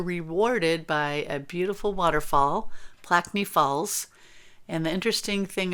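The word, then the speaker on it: Plaikni: Plaquemine Falls Or Trail. Plaquemine. Well, it's N-I, not I-N-I. I think I was saying it wrong.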